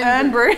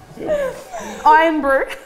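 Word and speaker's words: Irn-Bru: Or iron, not urn brew. Yeah. Iron brew. Iron brew.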